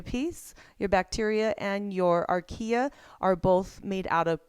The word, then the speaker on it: archaea: We have ourselves a bacteria, we have ourselves a archaea, is how you say it, and then eukarya.